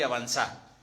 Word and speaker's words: avanzá: O si querés en argentino porteño, deja de llorar y avanzá. Nosotros le ponemos como los franceses, el acento en la última.